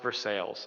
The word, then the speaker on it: Versailles: that laugh about north for sales um for those of you who are not in pittsburgh it it is it looks like versailles but it's pronounced for sales i don't understand why